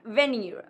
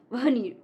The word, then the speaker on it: veneer: This one is not veneer. It's not veneer, but veneer. Veneer.